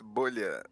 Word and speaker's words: bolha: Bola, is that how it's pronounced? Actually, it's bolha, but it is bubble in Portuguese because I'm Brazilian, Oh, gotcha.